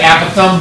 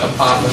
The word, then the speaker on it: apothem: Apothem. You can also pronounce it Apothem, but Apothem is better because it sounds like Gotham.